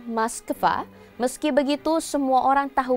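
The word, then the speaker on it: Москва: memiliki aturan ejaannya sendiri Sementara di negara asalnya orang Rusia menggunakan maskva meski begitu semua orang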